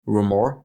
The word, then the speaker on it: RMR: RMR, ou avec la vraie prononciation Rumor, que vous venez de voir, fait partie des anciens masqués.